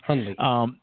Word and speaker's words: Hundley: Hundley. Hundley. Anyway, the N is very soft. Yes. Hundley. Yes. The D actually is soft. Ha. Yeah. D is soft.